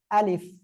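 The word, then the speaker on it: ألف: এই অক্ষরটা হবে আলিফ। আলিফ কেমন হবে? আলিফ, নিচের ঠোঁটের পেট উপরে দুই দাঁতের আগার সঙ্গে লাগিয়ে হালকা বাতাস বের করে উচ্চারণ করতে হবে।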